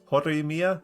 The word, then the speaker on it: Horimiya: Like this is that saying gives me vibes from an anime I just finished last night Horimiya. Think I pronounced that right? Horimiya? There we go, that's better.